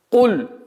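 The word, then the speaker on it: قل: Куль. Звук каф. Будьте очень внимательны, чтобы звук каф не произносилось как мягкий каф. Ку. Потому что куль переводится с арабского языка как скажи, а куль кушай.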